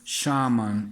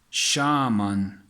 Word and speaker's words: Shaman: One of my favorite, all-time favorite Spydercos, the Shaman. Yes, it's pronounced Shaman, not shaman, Shaman.